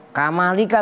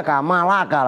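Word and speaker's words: كمالك: Kamalika, ntar bacanya kamalaka lagi. Nambah bingung lagi.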